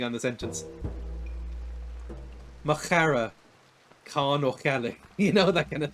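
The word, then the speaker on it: Ó Ceallaigh: The actual Irish pronunciation of that is O'Chalig. So it's a lot of back of the throat action in Irish, which I'm not really a fan of.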